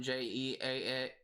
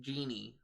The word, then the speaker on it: Jeanne: In America, I knew someone with the same spelling, Jeanne, but it was pronounced Genie. So I guess it like depends on where you are from for the pronunciation of that name.